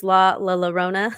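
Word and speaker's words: Llorona: And if you guys look this up, it's Llrona. So that's how you say it. 2 L's.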